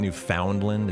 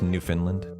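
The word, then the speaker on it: Newfoundland: I'm pronouncing it wrong. It's not New Foundland. It's New Finland.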